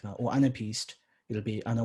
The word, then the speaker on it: anapaest: So anapaest pronounced in British English. In American English, they take out this A, so anapest.